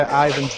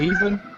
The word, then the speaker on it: Ivan: She was trying to say Ivan's name, and she pronounced it as even. So I was like, "Even? What? What do you mean even?"